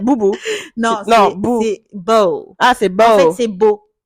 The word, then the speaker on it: Beau: Dis-toi, Ah non, j'ai toujours cru qu'il s'appelait Bou. Non, mais je l'appelais beau. En fait, Moi, je en pensais que anglais, t'écris ça se prononce. B-O-W, tu vois. Non, c'est genre beau comme l'adjectif beau.